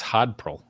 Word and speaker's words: Hodpril: It's Hodpril. Hodpril, like Hodl, but my name's April, so it's Hodpril.